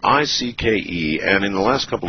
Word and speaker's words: Icke: going to be around, I've heard other people say Icky, and I fell into the same rut and said Icky. Nobody would pronounce their name Icky. But when you were a child, David, based on how it's spelled here, did you have a rough time with this one? No. They called me Icke. They called you Icke? Yeah. I mean, you don't pronounce the C.